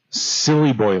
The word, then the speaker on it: Psiloboi: It's spelled PSILOBOI. As in psilocybin.